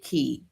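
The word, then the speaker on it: Kie: We want to welcome in Key out with key and it's key pronounced like the word ke y but spelled K I E.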